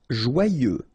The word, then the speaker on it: joyeux: Joyeux. Final X not pronounced, and then joyeux.